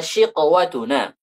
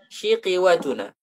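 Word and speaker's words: شِقْوَتُنَا: Kalau mengikuti kasrah maka nanti bacanya syiqiwatuna, syiqiwatuna. Itu kan tetap syiqwatuna, fayaqtulun. Kita tidak ada mendengar bacaan di ulama manapun yang mengatakan syiqiwatuna.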